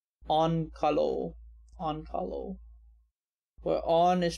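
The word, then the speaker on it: Onkalo: all finns have very creative names also it's pronounced on kalo han kalo where on is pronounced like on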